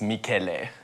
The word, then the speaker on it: Michele: So many people always ask this, but it's Michele. Michele. And you have to put a little Italian flavor.